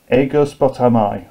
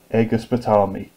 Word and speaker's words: Aegospotami: Lysander attacks the Athenians a curse bottom eye or aegospotami depends which way you want to pronounce it there are some hilarious pronunciations on the Internet EGIS potami I think sounds nicer so he delays his